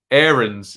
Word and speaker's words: Aarons: uh stan says did you see we've been pronouncing max aaron's surname correctly aaron's is how it should be pronounced the locals